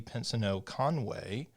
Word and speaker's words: Pensoneau-Conway: director of the school of communication studies pensino conway did i get the pronunciation i did congratulations thank you it's one